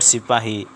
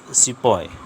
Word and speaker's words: sipahi: meaning soldier so probably the word the britishers mispronounced the word sipahi as sipoi as warfare technology changed